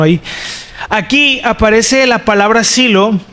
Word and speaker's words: Shiloh: Bueno, miren, vamos a explicar el significado de silo, o en el hebreo también se puede pronunciar como Shiloh, ¿verdad? Como aquí decimos Shiloh, no, pero es lo mismo.